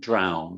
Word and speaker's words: drowned: Yeah, it's owl sound, drowned.